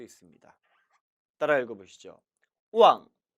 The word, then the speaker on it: 忘: 절대 왕이 아니라 우왕으로 발음함에 주의하시기 바랍니다. 이 단어 역시 둘로 나눌 수 있겠죠. 첫 번째, 이를 망자. 그리고 두 번째, 마음심 받침으로 나눌 수 있습니다. 따라 읽어보시죠. 우왕, 우왕, 신.